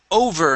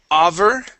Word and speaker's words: over: go to the word over instead of over it is O over over very good one more